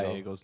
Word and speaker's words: Gallego: Like you don't say the L's.